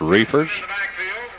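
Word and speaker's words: Reifers: Chris Reefers we believe that's pronunciation is right. R E I F E R S. Refers Penson back there along with Armstrong.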